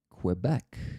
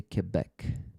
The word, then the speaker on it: Quebec: Uh, many Americans say Quebec. Canadians I've met say Quebec.